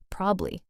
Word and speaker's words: probably: even more to just probably, two syllables. Wait, just probably? Like that short? Yeah, like I'll probably be late sounds like I'll probably be late in normal conversation. The middle syllable just kind of fades out.